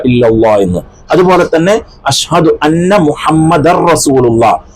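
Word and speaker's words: محمد: എന്ന് അതുപോലെതന്നെ അശഹദു അന്ന മുഹമ്മദ റസൂലുള്ളാ മുഹമ്മദൻ എന്നല്ല മുഹമ്മദ എന്നല്ലഅവിടെ അവിടെ അങ്ങനെ ഒരു നൂനോ തൻവീനോ ഒന്നും ഇല്ലാത്ത രൂപത്തിലാണ് നമ്മൾ ഉച്ചരിക്കേണ്ടത് അശഹദു അന്ന മുഹമ്മദ് റസൂലുള്ളാ എന്ന് ഇതൊക്കെ നമ്മൾ ശ്രദ്ധിച്ചില്ല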